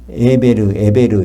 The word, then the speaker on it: 에벨: 에벨이 발음이 에베르, 히브루 그래갖고 거기서 나온 말이 히브리 사람이라는 뜻은 강을 건넜다는 뜻이에요.